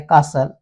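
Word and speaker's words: castle: समझ पाएंगे वैसे ही टी साइलेंट होता है यदि टी एस और एल के बीच में लिखा हो तो टी साइलेंट हो जाता है कासल या टी के बाद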